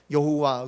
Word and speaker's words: 여호와: 그래서 우리가 여호와라고도 하지만 또 이제 그 야훼 뭐 이런 말도 들어보셨죠? 예, 똑같은 히브리어 글자인데 이거 아마 여호와라고 읽는 게 맞을 거야 라는 이제 설이 있고, 또 야훼라고 읽는 게